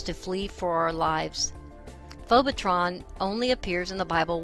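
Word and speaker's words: phobetron: It is phobotron, pronounced phobotron, according to Strong's G 5400.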